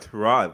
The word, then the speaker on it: Tyrod: starter last I check trod trod which is his actual pronunciation is not getting paid